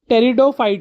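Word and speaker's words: Pteridophyte: इसका संबंध है बेटा जैसे पी साइलेंट है। टेरिडोफाइट से।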